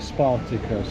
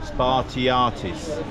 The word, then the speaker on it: Spartiatis: By the way, we're calling it Spartacus restaurant. How do you pronounce it, Rob? Spartiatis.